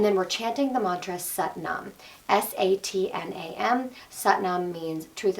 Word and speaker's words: Sat Nam: We're going to pronounce it like S-U-T, Sat Nam, okay?